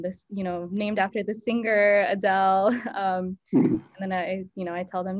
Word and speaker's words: Adel: named after the singer Adele. And then I tell them, no, it's actually pronounced Adel, and this is, what it means.